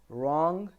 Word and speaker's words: wrong: R en is coming so at the time the W sound is unheard like what is it wrong REM wriggle so I'm not saying were wrong I'm not saying we're in I'm just saying wrong Ren and wriggle with